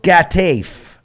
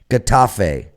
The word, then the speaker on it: Getafe: Granada hosts Getafe. I probably pronounced that completely wrong. How bad was that? Getafe. Okay. Getafe. Silent G. What? Well, they pronounce it with a heh.